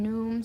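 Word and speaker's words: Nun: a dividing union with num I'm gonna say his name that way because some people call him noon some people call him nom some people say num I think it's good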